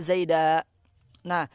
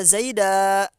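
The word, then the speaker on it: زيدًا: Dibaca zaida, dibacanya satu alif ya, enggak ditanwin. Yang pertama karena sebab nadoman, yang kedua karena sebab wakof. Asluhunya mah dibaca zaidan, dibaca tanwin zaidan.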